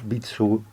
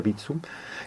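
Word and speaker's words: Vitsœ: era de origen danés bitsu es difícil de pronunciar se escribe v y tsv parece que se pronuncia bitsun que estaba asociado con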